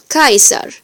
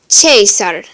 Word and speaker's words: Caesar: C or CH is always hard like the English K sound, ka, as in this word. Kaiser, like the English Caesar.